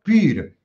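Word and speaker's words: πῦρ: A ver, en los comentarios, ¿cómo pronunciamos fuego? en griego pir, o sea, la pi, la y la r. Hm. Pir. Pir. Este es el primer deí la palabra pirómano. Hm. Es decir, pir es fuego.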